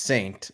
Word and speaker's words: Taint9: So Taint9 is excited. He says, I'll be there. I can't wait. P.S. My name is pronounced Saint. It just has an X.